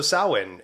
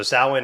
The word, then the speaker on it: Samhain: yeah so uh so sowin and uh so I'll just say this I had to spell out Salin and then realize that I didn't spell it anywhere right so sowin is spelled s-a-m-h-a-n right so in all